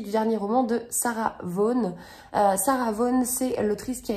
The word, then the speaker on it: Vaughan: s'appelle fragile réputation donc ça s'écrit Sarah Vaughan mais j'ai appris qu'on prononcer Sarah von voilà donc ce roman